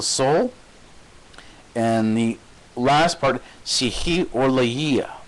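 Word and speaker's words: ψυχολογία: Psyche is the soul, and the last part, psychologia. So that's how it's pronounced. Psychologia. That's the Greek for psychology.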